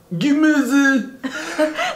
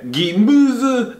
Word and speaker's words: Gemüse: Yeah, act like you're on the toilet. Gemase. No, just the ü, not the whole word. Oh, yeah, that's right. Okay, Gemase ist für mich.